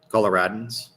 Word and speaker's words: Coloradans: And how do you say it? Coloradoans? Coloradans. I'll take your word for it.